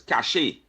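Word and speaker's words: cache: let Lenox know that the word is not pronounced cash. It's cashache. A cash of arms. Not a cash of arms. Lenox. A cashier of arms. Right. And I don't mean to be like the person who always arguing with you don't pronounce properly. This one is pronounced cashache.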